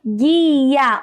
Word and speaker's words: guia: Na palavra guia, olha só. É apenas um único som formado pelo G e pelo U juntos.